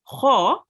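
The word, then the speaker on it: خ: Then we had Kha. Kha is also a thick letter, which means when you pronounce it, you have to round your mouth a bit.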